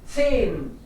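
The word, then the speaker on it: zehn: लेकिन बीच में आए तो साइलेंट, H silent. बीच में आ जाए मान लो किसी वर्ड के, तो उसको रीड नहीं करते, उसको साइलेंट रहने देते हैं। जैसे यहाँ पे सेन, एच बीच में आया, सेन. उसको पढ़ नहीं रहे हम लोग, सेन बोल रहे हैं, सेन, सेन।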